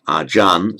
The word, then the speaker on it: ajan: syllable drops off, and under the phonetics of Thai, a final R or a final L are pronounced as an N. So acharya, drop off the final Ya bit, it becomes achar. Under Thai phonetics, ajan.